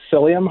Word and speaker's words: psyllium: but ended up with psyllium husk which also has a silent P up front which is what Metamucil